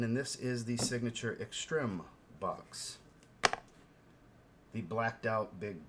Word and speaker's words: Extrême: But it's pronounced extreme, not extreme.